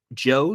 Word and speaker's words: DJO: Joe, DJO is how you spell it.